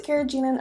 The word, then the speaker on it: carrageenan: and final food additive is the carrageenan I pronounced a carrageenan other people might pronounce it a little bit